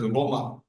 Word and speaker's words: Roma: Italians pronounce it as Roma. It is anglicized in English to Rome.